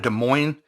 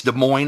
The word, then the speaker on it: Des Moines: could say out of Des Moines I think it's Des Moines Iowa I think the S is silent I may be wrong